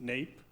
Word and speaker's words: NAEP: of educational progress so the naep pronounced nape and we get those